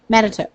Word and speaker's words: Manitou: Manitou.